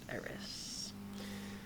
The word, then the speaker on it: Aerith: That's AERITH. It's just pronounced Eris.